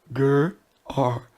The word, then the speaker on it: Gerar: running water, the herdsmen of Gerar, let me phonetically get it right. Gerar.